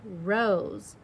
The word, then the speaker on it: rose: We're not writing the Z. It's that S that sounds like that Z sound, and we need that magic E is hopping over to make that vowel say its name.